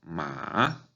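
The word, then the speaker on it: 骂: esta palabra en tercer tono, ma, significa caballo. Y esta palabra en cuarto tono, ma, significa regañar.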